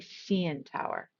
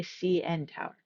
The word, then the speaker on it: CN Tower: Please be careful with CN. We stress both letters. We don't say CN Tower. We say CN Tower.